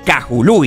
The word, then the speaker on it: Kahului: acá en la isla el Aeropuerto Internacional de cajulú y que es como realmente se pronuncia es el que sirve a la isla